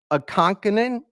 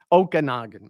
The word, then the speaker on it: Okanagan: going to kill this the name of the lake so help me with it Lake a conanan I killed it right yeah you slay it uh Okanogan Okanagan I'm sorry yeah lake okan lake Okanagan in clona British Columbia